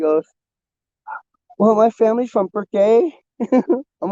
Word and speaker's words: Burke: It's we got Burke, and it's spelled weird because it's Burke. But people, you get your out of towners, they'll say Burke. No, or Burkett.